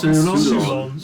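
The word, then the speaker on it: Psurlon: P-S-U-R-L-O-N. And how do you pronounce that? S-U-L-O-N. Soulons? Soulons. Yeah. Soulons.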